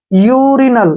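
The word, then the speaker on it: urinal: एल ठीक है ना यू के बाद फिर एक कंसोनेंट आया है और कंसोनेंट के ठीक बाद फिर वावल आया है तो यू को यू ही पढ़ना है यूरिनल क्या पढ़ेंगे इसको यूरिनल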